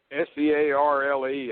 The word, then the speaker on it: Searle: How does he spell that? S-E-A-R-L-E.